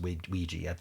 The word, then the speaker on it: Ouija: And for some reason it's pronounced weegee cuz Hasbro decided that was a neat pronunciation for that.